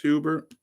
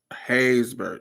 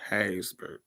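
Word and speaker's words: Haysbert: I might be saying his name wrong. Is it Dennis Hubert? Maybe I'm saying his name wrong. What is his name? Dennis Hubert waiting to exhale. Hayesburg. Hazbert. Yes, I was saying it wrong. Hazburg.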